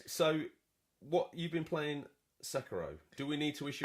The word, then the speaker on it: Sekiro: That's the official pronunciation that's been Sekiro confirmed.